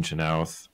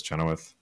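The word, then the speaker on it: Chenoweth: renewing the contract of Dean chenowth who I finally know how to pronounce I thought it was choth oops I mean it's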